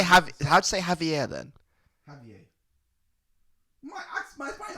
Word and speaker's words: Javier: Javier.